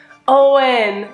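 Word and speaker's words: Eoghan: Ah, Owen, or On. Dang it, okay. I guess the E is silent, and the G and the H.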